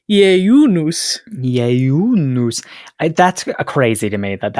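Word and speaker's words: ieiunus: And this word was indeed borrowed from the Latin jejunus, Jejunus. Although in more proper classical Latin, you'd hit the diphthongs a little harder and say it more like jejunus.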